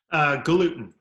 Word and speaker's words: Galuten: your last name for me I've know I mispronounced it for a decade gluten gluten yeah gluten is here we're gonna join